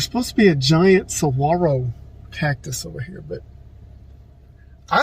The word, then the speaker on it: saguaro: to the giant saguaro i don't think you pronounce the g saguaro according to the maps